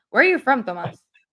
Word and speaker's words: Tomas: I'm like, that's Tomas. You have to say it like that. Where are you from, Thomas?